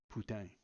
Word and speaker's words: Putin: although for my part I prefer the French pronunciation of Putin putang the original discussion of